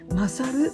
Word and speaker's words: 神猿: これらの猿は漢字で神の猿と書いて勝ると読むのだそうです。